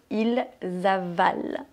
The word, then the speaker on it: ils avalent: Ici, c'est la 3e personne du pluriel, donc on ne prononce pas le son « en ». Ils dorment. Même chose pour « ils avalent ».